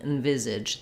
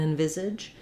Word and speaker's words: envisage: it as in um you can kind of think of it just as an envisage that it's going to have very little vowel it's going to be somewhat reduced and then my viz syllable is going to be stressed letter s says the z sound it's voiced in envisage um and then letter a is again again going to be a reduced vowel an uh sound and